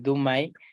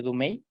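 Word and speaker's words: Du Mai: después vamos a ver el domain más bien se pronuncia dumail el dumail catorce que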